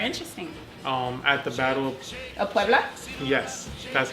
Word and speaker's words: Puebla: at the Battle Of Puebla?